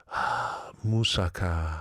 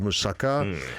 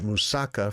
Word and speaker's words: moussaka: Moussaka. Ah, okay. Going to like the Mediterranean. Yeah, Greek. Greek In In Greece, there's a dish called moussaka, and that is the way you're supposed to pronounce it.